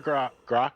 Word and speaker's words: Grok: Or Grok. I always say the name wrong. Yeah. They have no clue. Well, it's Grok.